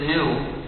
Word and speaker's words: gnu: but in any case the British colonists didn't bother trying so they just pronounced it new and they wrote it with a G meaning there's something else here that we are not pronouncing and then somebody else